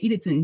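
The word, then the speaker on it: Eatonton: And it's funny because I used to always make fun of how it's spelled like Eaton, but you say Edenton, Georgia.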